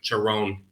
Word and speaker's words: Karen: also the name of the Rebel fraction is Karen which is pronounced like cheron we've been saying it wrong yeah oh I'm